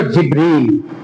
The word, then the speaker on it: জিবরিল: জিবরাইল দুই শব্দে আসে, দুই ভাবে উচ্চারণ হতে পারে। একটা হলো জিবরাইল আর একটা হলো জিবরিল, দুটোটাই বলা যায়।